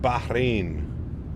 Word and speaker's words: Bahrain: pronounced Bahrain.